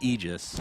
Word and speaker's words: aegis: that's really important center the pronunciation of ages it's actually aegis right right like literally